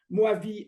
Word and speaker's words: Mojave: Alors, Mojave, je prononce à la française, Moavi en américain, hein, ou en navarro, c'est pareil. C'est le désert de Mojave.